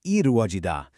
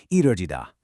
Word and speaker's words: 이루어지다: For instance, the proper spoken Korean word for to come true is 이루어지다, but it is incredibly common in K-pop to shorten this and pronounce it with a really smooth English-sounding R, making it sound like 이루어지다, which sounds amazing on a